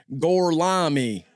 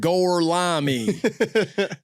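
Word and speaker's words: Gorlami: He's just like gorami. That's how you pronounce it. Goreami.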